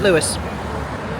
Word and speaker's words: Louis: Very excited to see A Wonderful World, the Louis Armstrong musical.